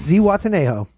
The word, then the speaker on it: Zihuatanejo: Zihuatanejo. I said it right. And it's spelled crazy.